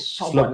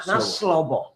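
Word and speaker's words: Sorbor: That name is Sobo, not Slobo. Sobo? Sobo, S-O-R-B-O-R. From Grand Crew. Not Slobo. Anyway, let me say congratulations to you guys.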